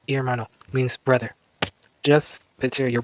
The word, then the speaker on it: hermano: The Spanish word hermano, pronounced hermano, means brother.